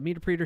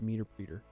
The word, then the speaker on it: Meterpreter: Like interpreter? Yeah, meter preter. Meterpreter. Meterpreter? Oh, so instead of meter preter, you're saying meterpreter.